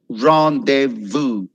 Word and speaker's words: rendezvous: word which is rendezvous it's a french word which means a secret meeting ronde vu rendezvous vu that's how you say rendezvous okay which means a